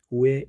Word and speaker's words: ㅜ: 모음 우의 이름입니다. 그리고 로마자 표기법입니다. 자, 영어에서 U는 cut, 어의 발음이 나지만 로마자 표기법에서는 우 발음이 난다는 거 꼭 기억하시기 바랍니다.